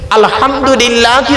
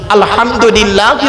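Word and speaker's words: الحمد لله: আলহামদুলিল্লাহি রাব্বিল আলামিন। আলহামদুলিল্লাহি রাব্বিল আলামিন। এ গলার ভেতর থেকে উচ্চারণ করবেন।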